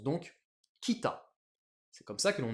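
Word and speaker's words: 北: Donc je l'écris bien en hiragana et ça se prononce donc kita.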